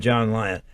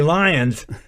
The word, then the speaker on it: Lyon: they hadn't heard of John Lyon and matter of fact they called him Johnny Lyons I said no there's no s they're my grandchildren my